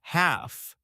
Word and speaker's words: half: The word is half. H A L F. The L is silent. You say half.